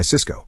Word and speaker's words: Cisco: Jack had told him to buy Cisco, the high-tech company, and Tony bought Cisco, the food distribution company. Both stocks are pronounced exactly the same.